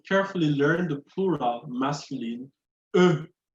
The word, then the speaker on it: eux: And also carefully learn the plural masculine, eux. Eux. You just say eux. So it's pronounced like eux in je, eux. So the X is silent.